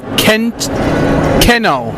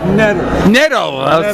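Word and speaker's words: Knetto: I'm here with author Joe Keno. Netto. Sorry about that. No, it's K is silent.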